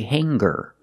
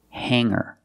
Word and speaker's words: hanger: like singer and hanger in both of these words the G is not pronounced with a hard G sound we don't say singer and we don't say hanger we say singer and hanger today we're going to